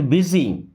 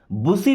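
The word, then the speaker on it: busy: आई वॉज अ बिट बिजी। I means होता है मैं। वॉज, वॉज मीन्स था। अबिट, अबिट का मतलब होता है थोड़ा सा। अबिट मीन्स थोड़ा सा या थोड़ा। बिजी, बुसी नहीं पढ़ते, बिजी।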